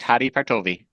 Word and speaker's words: Hadi Partovi: another scholarly guy, not to diss him, but Hadi Partovi, is that the right pronunciation? Yep, that's correct. Hadi Partovi.